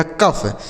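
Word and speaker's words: cough: इसे पढ़ा जाएगा कफ। सी ओ यू जी एच कफ।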